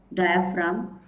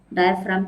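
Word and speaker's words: diaphragm: And then this is a muscular membrane which is called as द डायाफ्राम। डायाफ्राम की spelling में जी है, silent है लेकिन लिखना जरूर है।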